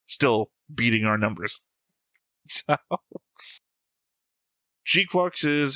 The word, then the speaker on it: GQuuuuuuX: So Gqu is how we pronounce it.